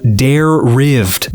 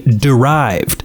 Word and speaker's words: derived: the word dare rived the way he pronounced the word i asked him to point to the word in the book he was reading and i see derived i corrected his pronunciation and even gave him the